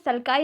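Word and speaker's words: sulci: गायराई एंड सल्काई इन्हें कह सकते हैं और जायरी एंड सल्की भी कह सकते हैं, ठीक है? दोनों ही प्रोनाउंसिएशन करेक्ट है।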